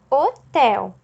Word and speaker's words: hotel: caso e então história hotel inicia com h mas leva o som do ó da vogal ó que o acompanha mesma coisa que hortelã